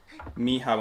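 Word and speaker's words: Michał: It's the exact same pronunciation in Chinese to say hello is a mi hao in Polish, Michael.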